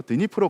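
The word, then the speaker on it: Дніпро: 이름이 바로 드니프로 강입니다 예전에는 그 러시아 어식 발음으로 드네프르 강이라고 했었는데 지금은 우크라이나어를 어 존중한다는 의미에서 드니프로 강이라고 하죠 어쨌든간에 우크라이나는이 드니프로 강을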